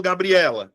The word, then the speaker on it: Gabriela: Se eu pegar a palavra Gabriela, qual é a sílaba que eu falo mais forte? É Gabriela. É Gabriela. Ou é Gabriela? Quando eu falo Gabriela, é o E.